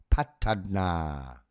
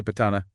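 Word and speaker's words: Paṭṭhāna: Patna. Okay, Patana, thank you so much for that extra precision, John. That distinction with a long a at the end, it really helps.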